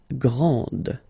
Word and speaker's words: grand: exactly the same thing this final D is not pronounced okay so and then the feminine form Grand okay so you put this and then you get the sound d d Grand okay Grand and then we get